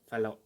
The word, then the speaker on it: Fallot: endocarditis now fun fact it is pronounced as tetralogy of fellow and this is the